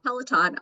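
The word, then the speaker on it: Peloton: that p peltin uh is that how you pronounce it Pelon yeah pelaton but on a smaller scale if you were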